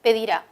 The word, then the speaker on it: pedirá: pedirá es un verbo este verbo es agudo el acento está en la última sílaba pedir a ese verbo no podemos